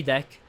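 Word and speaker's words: deque: Even when I learned that the pronunciation was deck, like it sounded like the English word de e ck.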